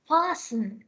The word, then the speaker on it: fasten: We pronounce it as fasten. හොඳට මතක තියාගන්න here the T letter T is silent.